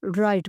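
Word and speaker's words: write: को कहते हैं राइट राइट डब्लू इसमें साइलेंट होगा इसे राइट पढ़ा जाएगा रीड पढ़ना ठीक है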